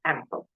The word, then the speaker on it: AMPL: In the professional slang, especially among native speakers, this acronym is often pronounced as AMPL.